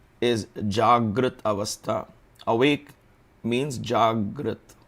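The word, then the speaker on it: जाग्रत: Awake means Jagrat.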